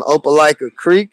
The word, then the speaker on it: Opelika Creek: Now, I'm Opelika Creek. All you got to do is hit that @ button. O P is a paw, ELIKA CREEK. Opelika Creek.